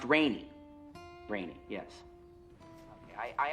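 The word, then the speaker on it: Rene: uh g a g n o n right pronounced rainy rainy yes okay I I actually called okay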